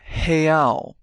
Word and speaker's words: real: In Brazil, the currency is the real, or reais when plural. Let's practice that pronunciation. Real, real, real, and reais, reais, reais.